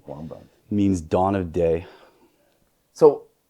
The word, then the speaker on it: Wabaunsee: Pronunciation of Wabaunsee. Wabaunsee.